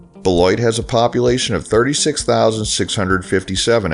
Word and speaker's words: Beloit: In 1838, the name was changed to Beloit, which at a glance, looks like it may be French, and pronounced bell-WAH. But the name was actually coined to be reminiscent of Detroit. Beloit has a population of 36,657 as of the 2020 census.